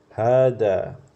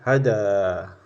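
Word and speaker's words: هذا: kecil ya setelah ha jadi bacanya panjang tidak boleh had Tapi bacanya had ya had had ini dan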